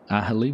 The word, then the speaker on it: Aghalee: The G is silent. I'm assuming that's Aghalee.